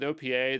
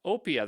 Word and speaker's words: OPEA: the thought is like with Opa that some or op Opia Opia that's actually how they want it to be pronounced I know it's crazy